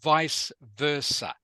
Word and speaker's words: vice versa: Sorry, it is pronounced vice versa.